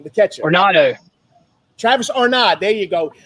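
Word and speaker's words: d'Arnaud: Arnado.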